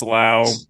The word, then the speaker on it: Lowe: So is that some of you pronounce low, some of you pronounce low? Which one's that? Brandon is Lau. Yeah, Josh is Josh and Nate are low. Brandon Lau.